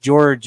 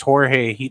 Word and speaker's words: Jorge: it go since you corrected me it's not pronounced George it's Jorge that's what how he pronounces it yeah the